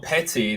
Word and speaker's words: petite: No, but it's pronounced petty, but it's Petty. like it's spelled Petite with a hyphen on top in it. So the T at the end you don't say, like, you know, like with croissant.